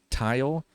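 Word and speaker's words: Tial: mount intercooler and piping a tile or teal however you uh pronounced it external wastegate I always said tile and a grety types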